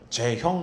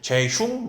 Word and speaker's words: 제형: 제 이름을 미국 사람들이 자꾸만 발음을 못해요. 제형 해야 되는데 제흉, 뭐 제용, 막 이렇게 하라고 그랬거든요.